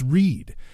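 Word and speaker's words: Ryd: absolutely beautiful and talented Elise Reed. Or Rid, or however her last name's pronounced exactly. I think it's R-Y-D.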